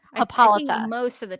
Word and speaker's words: Hippolyta: She says, Diana's original origin story was that she was made out of clay by Hippolyta? Is that I always say Hippolyta. Hippolyta.